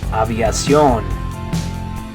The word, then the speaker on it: aviación: Okay, next one, in English you'd say aviation, but in Spanish it's going to be aviación. Aviación. Good. In English it's aviation. In Spanish you say, good, aviación.